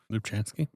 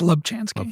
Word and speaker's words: Lubchansky: as someone with an actually hard to pronounce last name Lupchansky it's Lubchansky Lchansky sorry it's you know what